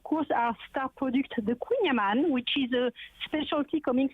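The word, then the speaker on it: Kouign Amann: It's La Maison du Queen Amman. So you pronounce queen like a queen.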